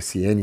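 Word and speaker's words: Siene: Ele nasceu em Ciene, ou Cirene, você vai achar escrito Cirene, mas a pronúncia normalmente é Ciene, e aí o pessoal de história, de geografia pode abordar melhor isso, explicar melhor do que eu.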